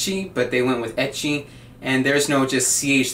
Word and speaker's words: ecchi: went with eight Chi but they went with itchy and there's no just CH there's no chest